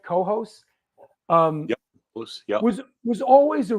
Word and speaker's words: Cohoes: scene, that area, Albany, Troy, Cohoes, am I pronouncing it right? Cohoes?